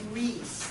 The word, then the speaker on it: Riis: clearer that not okay Jacob Riis that's how you pronounce that it was a Dutch